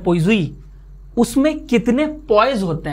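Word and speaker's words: poise: ये क्या है भाई इसे कहते हैं पोइजी। हो सकता है मैं गलत बोल रहा हूं, मेरी फ्रेंच प्रोनाउंसिएशन बहुत ही बेकार है क्योंकि मुझे फ्रेंच नहीं आती है तो इसको हम लोग तो पॉइजलीस पढ़ते थे बचपन में जब हम आपके एज के थे, लेकिन इसे एक्चुअली पोइजी कहा जाता है।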